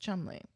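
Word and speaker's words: Cholmondeley: Mar of chond delay they say it should be pronounced Chumley why did they put all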